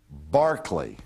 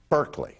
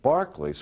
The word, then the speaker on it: Berkeley: And his name was George Berkeley, is how it's pronounced. Oh, I never spell it right. But if you look at it, you think it reads Berkeley, because it's spelled like the university campus that